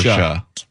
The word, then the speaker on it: Porsche: Porsche. Pora. Porsche. It's two syllables. It's Porsche. Porsche.